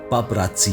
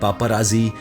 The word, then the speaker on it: paparazzi: मुश्किल हो जाता है पपराजी दरअसल इतालवी भाषा का शब्द है और इसका सही उच्चारण पाप रासी है लेकिन समय के साथ अपभ्रंश होते हुए यह पपराजी या पपराजी हो गया यह शब्द पहली बार